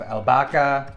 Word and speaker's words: albahaca: I also have a little bit of albahaca. The H is silent here in Spain.